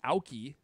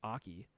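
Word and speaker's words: Aukey: somewhere um yeah and this aoki which i'm pretty sure is pronounced aki is also a really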